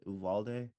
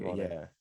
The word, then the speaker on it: Uvalde: the families that were affected by I can't pronounce this city. Is it Uvalde? Yes, correct. Okay, Uvalde.